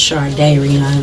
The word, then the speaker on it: Shardayreon: Am I saying your name? When I say Shardayreon? It's pronounced. It's close enough. Shardayreon. Okay. It's pronounced Shardayreon though.